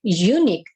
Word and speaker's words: unique: Tetapi begitu kita sebutkan when we pronounce this word, maka yang terucapkan itu adalah, kalau pronunciation yang tepat itu adalah terdengar huruf y, u, ya.